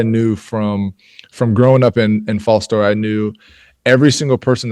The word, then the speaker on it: Fostoria: Is it Fostoria, Ohio?